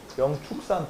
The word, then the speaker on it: 영축산: 어 통도사가 통도사가 영축산 통도사거든요. 근데 영취산이라고도 많이 해. 이게 취발음도 나고 축발음도 나는데 취발음이 멋있어. 영산 이러면 좀 있어 보이고 영산 이러면 약간 딱딱해 보이잖아. 응. 근데 이게 축발음이 축발음이 정상이다.라고 우리가 쓴 사람이 얘기하는게